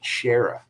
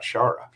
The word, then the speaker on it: Shara: Let's make sure you say it right. Shara, not Shara. Gotta put respect on that name.